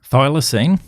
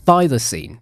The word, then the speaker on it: thylacine: Thylacine. Thylacine. That's what I'm trying to say. I'm not very good at pronouncing that stuff, but it's also known as the Tasmanian tiger.